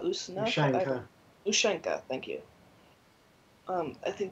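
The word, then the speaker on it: ушанка: God, I don't know how to pronounce it. Usanka? Ushanka.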